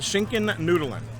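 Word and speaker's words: Schinkennudeln: So, the Schinken Nudelen.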